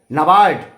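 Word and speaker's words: NABARD: नाबार्ड, यहाँ पर ए साइलेंट है, ध्यान रहे, कंफ्यूज हो जाएंगे आप। National bank for agriculture and rural development, नाबार्ड। पहला एन के बाद जो ए है वो साइलेंट है, उसको आप नेशनल में ए मान लीजिए।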